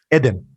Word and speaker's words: Eden: So it's pronounced a bit differently in Hebrew, but it's all good. How do you pronounce it? Eden.